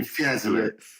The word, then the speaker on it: Fiesole: But in 2019, you purchased the Hotel Via Aurora in, how do I pronounce it, Bibi? Fiesole.